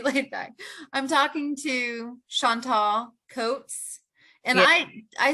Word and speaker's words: Chantel: I'm talking to Chantal Coates, and yeah, I say Chantal.